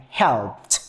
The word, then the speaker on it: helped: Okay, and the next sound is help. Okay, we can see that the pronunciation is p. Okay, so when turning into the simple past, it will sound helped.